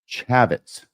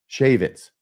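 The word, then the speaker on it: Chaffetz: Second thing was I had said that Jason Chavitz Shavitz, someone corrected my pronunciation on that as well.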